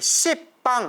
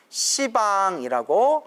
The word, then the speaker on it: 시방: 네, 십방 하면 발음이 너무 억세기 때문에 시방 발음을 완화시켜서 시방이라고 한다고 했습니다.